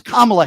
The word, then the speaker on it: Kamala: I'll answer your question if you could at least show the respect of pronouncing her name right, you dope. Okay? It's Kamala Harris.